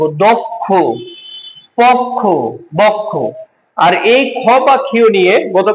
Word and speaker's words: বক্ষ: তাহলে কি হল এটা এই এইবারে ঠিক আছে বক্ষ একইভাবে পক্ষ দক্ষ কিংবা কক্ষ একইভাবে উচ্চারণটা হবে।